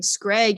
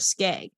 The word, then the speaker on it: skag: also before you left i was accidentally searching skreg instead of skag oh i might have said it wrong too yeah i think